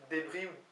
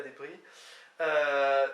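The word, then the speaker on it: debriñ: Débris, qui s'écrit D-E-B-R-I-N, avec le tilde sur le N, semble-t-il se prononce débris, et donc c'est le verbe manger. Hein. Petrapo da débris.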